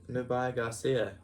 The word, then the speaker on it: Nubia Garcia: Nubia Garcia. Yeah. You pronounce that well. Nubia Garcia, I'll have to practice that.